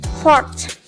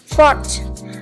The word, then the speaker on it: fourth: Nah, untuk angka di tanggal kita membacanya fourth. Ada seperti bunyi H-nya gitu ya di belakangnya, fourth.